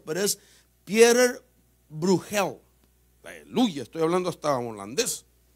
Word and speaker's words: Pieter Bruegel: Como es holandés, el apellido está bien delicado, ¿verdad?, de pronunciarlo, pero es Pieter Bruegel.